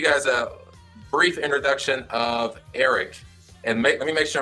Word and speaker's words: Aric: Well, I mean, I actually want to pronounce it like you would do it, Aric. It's Aric.